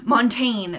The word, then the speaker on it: Montaigne: It's number 646, and then it says 30, and then it says, it means mountain in French, Montaigne. Montaigne, that's definitely how you say it.